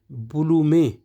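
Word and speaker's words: Blume: है इसकी इसी तरह बी एल यू एम ई ब्लू में जो यू है वह उ की आवाज प्रोनाउंस करता है और जो ई है वो एक की आवाज प्रोनाउंस करता है तो ये इसकी जो प्रोनंसिएशन हुई वो हुआ ब्लू मेंे ब्लू मेंे जो है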